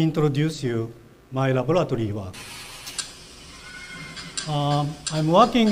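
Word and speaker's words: Ai: I'm working in the Primate Research Institute, Kyoto University. There is a group of 14 chimpanzees. My partner is called I, spelled A-I, pronounced like I, meaning love in Japanese.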